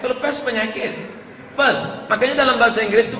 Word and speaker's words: Perth: I am going to Perth. Bukan pest. Kalau pest penyakit. Perth.